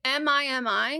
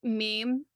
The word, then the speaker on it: MIMI: Is it MIMI? Yeah. Oh, because I was kind of loving the idea that it was meme, but you just pronounced it Mimi, and then it could